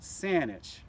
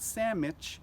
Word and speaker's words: Saanich: Now that's pronounced Saanich for any of you smart Alex out there. It's not Sandwich, it's Saanich.